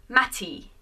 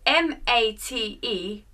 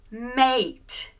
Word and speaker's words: mate: becomes the long sound we don't pronounce the e we don't say Matty we just change the at sound to the long sound so ma te is not mat but mate the a sound mate the same happens with